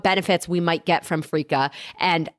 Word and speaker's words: freekeh: side of fries this week we're talking about frea and I know you're like huh what is that so it's spelled f re e k e h and